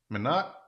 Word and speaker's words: Minot: Pronounced my, not pronounced my. So mine, my not. Is that right? Minot, Minot.